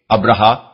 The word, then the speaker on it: ابرہہ: مورخین ابراہام لکھتے ہیں۔ ابرہا غالباً اسی کا حبشی تلفظ ہے کیونکہ عربی میں تو اس کا تلفظ ابراہیم ہے۔ یہ شخص رفتہ رفتہ